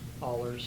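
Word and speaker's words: Ahlers: I would make a motion to sign the waiver from, is it pronounced Allers? Allers.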